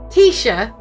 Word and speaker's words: Taoiseach: I never know how to say it, because I know it's not pronounced this way. It's a Gaelic word. Let me listen here. Taoiseach.